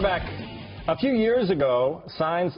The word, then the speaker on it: Saenz: Jason first of all your name is signs that's how it's pronounced signs is this some kind